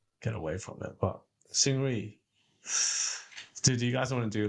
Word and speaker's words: Seungri: But Seungri, do you guys want to do like a?